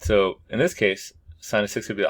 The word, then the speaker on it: sine: the sine ratio pronounced sine like a like the sign you see in the billboard so that's called a